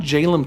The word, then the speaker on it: Jalem Tone: The card Jalem Tone was named after Joel Mick, a former playtester, developer, and designer at Wizards of the Coast. His initials, JLM, are pronounced Jalem, and hence the artifact's namesake.